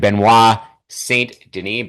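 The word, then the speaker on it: Benoît Saint Denis: between Dan Hooker and Benois Saint Deni Benoy Saint depending on how you want to pronounce it, how much French you want to inject into the pronunciation.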